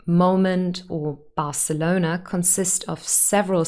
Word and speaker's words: Barcelona: has one syllable and barcelona has four and here it's the third one barcelona next year again only